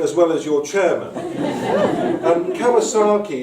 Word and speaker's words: Kawczynski: to be MP for Shrewsbury, they said, well, Kawczynski, it's not a very Shropshire name, is it? They didn't quite pronounce it as well as your chairman. Kawczynski, it's not a very Shropshire name.